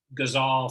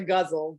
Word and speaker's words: ghazal: I've always known it as a guzzle, but ghazal, I guess potato.